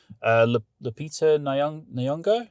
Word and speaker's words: Lupita Nyong'o: Lupita Nyong'o?